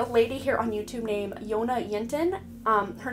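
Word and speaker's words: Jonna Jinton: here on youtube named jonah yintin her name is spelled jj yona yenten the j is silent she is from sweden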